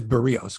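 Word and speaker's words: Berríos: by Jose Barrios and it is burios because I've been listening to Dan showman say his name and I've got it Mike it's barios it's burios because wellner says it differently it's barios it's burios it's Jose burrillos he was given up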